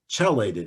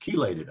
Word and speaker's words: chelated: a t d I used to call it chelated iron till everyone corrected me and say no Jeff it's pronounced chelated iron so this is recommended um in late